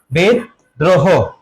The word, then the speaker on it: বিদ্রোহ: এর উচ্চারণ কি হবে বিদ্রোহ এর উচ্চারণ কি হবে একটু ঝটপট জানাও তাহলে এখানে কি হবে বলতো বেদ এখানে থেমেছে এজন্য হয় চিহ্ন তারপরে কি হবে দ্রোহ হবে কি হবে দ্রহ বেদ দ্রোহ আরেকদিন সুযোগ হয়েছে তোমার